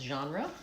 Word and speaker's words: genre: Genre is a French word and we pronounce it similar to the French. We don't in English naturally have that zh sound at the beginnings of words. We tend to put it in the middle and ends of words like measure.